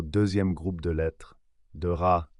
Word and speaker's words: ر: lettre de ce groupe RA qui se prononce r mais attention pas un r français c'est un r roulé comme dans certaines langues européennes écoutez bien r un